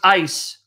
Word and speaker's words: eis: The Greek preposition is right there, eis, or if you want to pronounce ice. That's the word eis that can mean into or in.